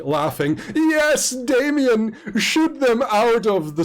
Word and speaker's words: DAM13N: Yes, Damien, shoot them out of the sky. And you know that Damien is spelled DAM13N. It's how she pronounces it.